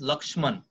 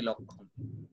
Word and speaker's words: লক্ষ্মণ: ক্ষিয়র নিচে একটা ম, এটাকে অরিজিনালি উচ্চারণ করা উচিত লক্ষ্মণ, তাইলে আমাদের বানান ভুল হবে না, কিন্তু আমরা বাঙালি উচ্চারণ করি লক্ষণ।